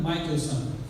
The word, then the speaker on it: Michelson: Prêmio Nobel de Física, Albert Abraham Michelson. Essa é a pronúncia correta, mas a minha mãe não sabia.